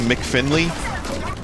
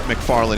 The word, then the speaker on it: McFarlane: to read it so he called him Mick Finley and I was like dude it's actually Todd McFarland he's like I like